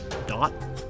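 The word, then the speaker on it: Duat: Now, the Veil is similar to something like I believe it's pronounced Dot.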